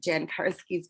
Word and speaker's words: Jan Karski: I read Jan Karski's book. Did I pronounce his name correctly?